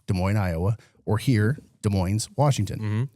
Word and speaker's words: Des Moines: Mo Iowa or here De Moines's Washington. So they pronounced the S.